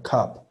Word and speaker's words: cup: Luego tenemos lo que sería la A torpe o A hueca o la A con O.